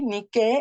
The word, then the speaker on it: Nike: le pone Nike no y niqu es un nombre griego que es n i K e acento en la e ni que Y